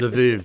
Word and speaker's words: Lviv: Is that how I pronounce it? Lviv. Lemberg, if we're going to go with Ludwig von Mises. Lemberg. Right. Lviv.